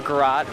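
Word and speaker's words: garrote: This is Groat or Garot. There are two pronunciations for it.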